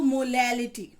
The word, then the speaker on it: molality: Okay, चलिए firstly मैं आपको बता दूं कि मोलैरिटी की स्पेलिंग है MOLARITY और मोलैलिटी की है MOLALITY। ठीक है, तो इसको मोलैरिटी पढ़ा जाता है और इसको मोलैलिटी, ठीक है, इसको कैपिटल